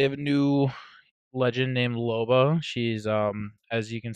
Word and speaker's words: Loba: Loba? Loba, yeah. Loba. Okay, cool. Just want to make sure I Um, got that pronunciation down.